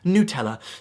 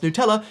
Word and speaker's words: Nutella: it is vehemently pronounced Nutella. Nutella. You have to make sure you have the accent on the nut.